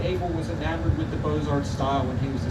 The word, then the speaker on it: Beaux-Arts: That's spelled B-E-A-U-X, Beaux-Arts.